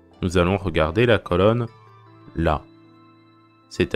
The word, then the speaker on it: ら: dit dans certaines vidéos le r se prononce elle en japonais donc c'est comme si vous disait elle a donc c'est pas parce qu a écrit ra qu'il faut dire ça ras c'est plutôt là comme d'habitude vous pouvez